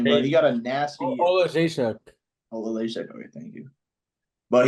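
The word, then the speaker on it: Oleksiejczuk: I'm not gonna try to pronounce his last name, but he got a nasty. Olajszak.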